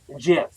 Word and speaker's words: Jif: General Manager JM Smucker Company, I guess it's just JM, the brand's manufacturer said in a press release, although Jif is obviously pronounced with a soft G, people mispronounce the word